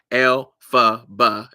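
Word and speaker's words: Elphaba: but it that how when you say her name L FB it's l FB and the original author of um um the religional author of um the wizard eyes is L frank bomb so alab alab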